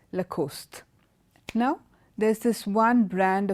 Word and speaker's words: Lacoste: the second one is la cos de Lacoste Lacoste it's also a French word again this is a very very popular brand of men's clothing its Lacoste now there's this one